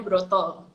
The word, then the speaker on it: Broto: suami saya itu yudibrata kalau orang Jawa atau bilangnya berat itu dibacanya Broto Ya udah enak kayaknya